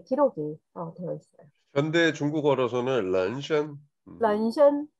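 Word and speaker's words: 人参: 현대 중국어로서는 런션. 런션. 자, 예. 오케이. 감사합니다. 자, 그래서 중국어 발음은 런션인데 진생하고는 이게 이제 발음이 차이가 있는 거죠.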